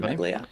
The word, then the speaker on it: Ventimiglia: How do you pronounce his How do you pronounce his name? Ventimiglia.